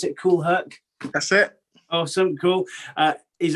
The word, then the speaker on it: Kool Herc: Is that how you pronounce it, Kool Herc?